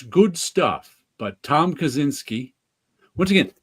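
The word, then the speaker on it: Kaczyński: It's good stuff, but Tom Kaczynski, once again, that's a name I only know how to pronounce. The American that's how we'd say it here. I don't know how you'd say that in Poland. Kaczynski.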